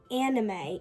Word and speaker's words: anime: It's not pronounced on anime. It's pronounced anime. Guys, please, I don't want to sound schizophrenic.